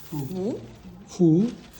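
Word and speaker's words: 福: How you pronounce it? Fu fu.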